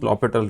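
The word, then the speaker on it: L'Hôpital: And I usually teach LH rule or lital rule that is written L hospital but pronounced lital rule towards the end because I first want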